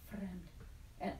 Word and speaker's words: fremd: Fremd, roll your R a little bit. Okay, I'll try it. Okay, this man was born in Germany, so he knows. Fremd.